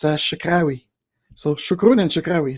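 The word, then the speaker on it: شكرا: I try to say thank you in Arabic, Standard Arabic, and I've been learning it from my colleagues, so I think it's shukran.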